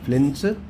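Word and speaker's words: Flynn: named flins fly flying it pronounce like f l y n n s flins classification of computer that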